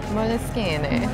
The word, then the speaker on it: Moleskine: It's an Italian company. I'm not going to pronounce it the Italian way. Uh-huh. Do you know how to? Moleskine.